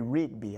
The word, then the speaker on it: Rigby: Miss Tori Rigby. I've been pronouncing her name wrong, and her mother just been probably laughing at me. It's not an S in Rigsby, but hey, this is what I try to tell y'all people.